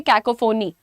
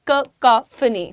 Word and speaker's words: cacophony: Generally looking at इट, यू are going to से कैकोफोनी. Huh? Would you say that? But that's incorrect. The correct pronunciation looks like this: cacophony, cacophony.